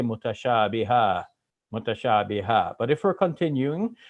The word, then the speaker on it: متشابها: And now here, because I stop in the Arabic, I'm saying mutashabiha. So when we have that an sound at the end and we're stopping, we make it as if it's a long A.